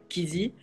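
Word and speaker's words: Keezy: Donc, ça s'écrit K-E-E-Z-Y. Kizzy.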